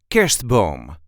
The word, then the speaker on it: kerstboom: This is how we say Kerstboom. Kerstboom. The emphasis is on the first syllable. Kerstboom. Kerstboom. Kerstboom. You can hide the R a little bit and pronounce it like Kerstboom.